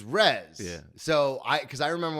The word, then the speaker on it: Tyrez: I first met you I was thinking RZ like R Iz yeah yeah and that's not right no it's Rez so I because I